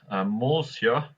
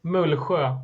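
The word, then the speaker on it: Mullsjö: Next, MUULSJO. Was that sound good, Pontus? Yeah, it was okay. I say MUULSJO, but MUULSJO. Yeah. MUULSJO. They seem quite up and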